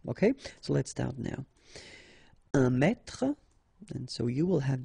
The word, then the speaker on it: mètre: Un mètre, and so you will have the translation here. Un mètre, and then un mètre as well. Okay, so un mètre and un mètre, same pronunciation.